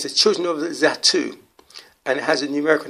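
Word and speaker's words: Zattu: the children of the zatu and it has a numerical number of 22-40 and it's still pronounced that too when spelled is at a double t u um the children of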